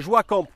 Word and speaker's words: Joa Camp: Alors, la marque qu'on vous présente, c'est Joie Camp.